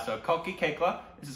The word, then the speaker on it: Koechlin: Kekla. Kalki Kekla. Which still doesn't make any sense to me, but that's how you pronounce it.